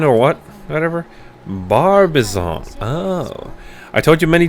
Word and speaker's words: Barbizon: Benjamin or what? Whatever. Barbizon.